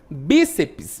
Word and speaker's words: bíceps: Bíceps, mesma coisa. Bíceps, né? Terminou em PS, a sílaba tônica é uma proparoxítona, né?